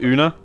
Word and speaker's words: Oona: soon uh ray sorry is it oona is that how you pronounce that you know yeah yeah uh yeah oon is very